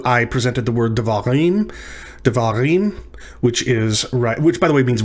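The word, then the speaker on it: דברים: So it's not devarim, and it's not devarim, it's devarim. So the emphasis is on the last syllable.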